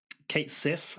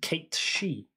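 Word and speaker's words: Cait Sith: pronounce it right because his name is an old gaelic name it's pronounced kate she that's a fact for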